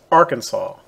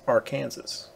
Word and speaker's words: Arkansas: there that would work it's spelled exactly the same but the state is pronounced arkansas this river same name on paper is pronounced arkansas english is a funny